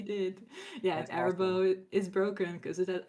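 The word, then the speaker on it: Arahbo: It's Arabo. Wow, look at me mispronouncing my favorite deck. It's Arabo, Roar of the World.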